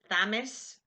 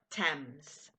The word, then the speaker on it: Thames: the River Thames okay Thames Thomas no Thames how long is the